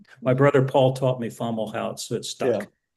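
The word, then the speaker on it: Fomalhaut: Yeah, they they pronounce it formalo and so I've sort of adopted that without thinking about it. Okay. You'll also see formal hout.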